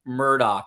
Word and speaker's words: Murdaugh: is in fact the southernly southern way to pronounce it so you'll be hearing me say Alec Murdoch now he is as you know a once